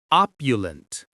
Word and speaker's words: opulent: Opulent. Opulent. The stress is on that first syllable.